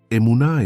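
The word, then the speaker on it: אמונה: Pronuncia conmigo en voz baja. Eunaj no significa simplemente fe como una creencia pasiva. Emuná es firmeza, es fidelidad inquebrantable, es la cualidad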